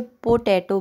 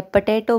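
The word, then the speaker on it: potato: कुछ लोग इसे पोटैटो बोलते हैं या पटैटो बोलते हैं, नहीं, पोटैटो।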